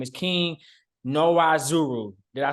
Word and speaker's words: Nwaozuru: His name is King Nwaozuru. Did I say that right, man? Nwaozuru, the N is silent, but we'll give you Nwaozuru.